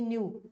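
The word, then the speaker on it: know: के एन डब् नो ध्यान रखना के एन डबल में के साइलेंट होता है उसका कोई साउंड नहीं होती है केन डब् नो माने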